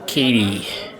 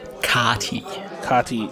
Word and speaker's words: Kati: Alt Art Plascrete, Alt Art Katie. Kati, yes, thank you. That's her real name. I actually know a person who's called Kati, because that's a common way to pronounce his name in Germany.